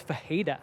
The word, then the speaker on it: Ferreira: So Ferreira is Fajeda.